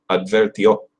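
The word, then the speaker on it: advirtió: Syllable, the O. El advertió. El advertió. Notice it does sound different from English. English would be like advertise. You can't say, you have to use the correct pronunciation.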